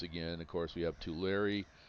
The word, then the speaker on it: Tulare: Of course we have Tulare. That is how that's pronounced pronounced as Tulare. Just think of like you're writing a letter Tulare.